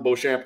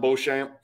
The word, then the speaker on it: Beauchamp: I really think people need to keep their eye on Marjan Beauchamp, or Beauchamp, I'm sure is how you pronounce it, but I refuse to speak French on this channel.